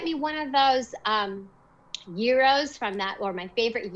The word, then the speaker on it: gyro: all the fans um euro is how we say it on the west coast and gyro is how you say it on the east coast catch 22.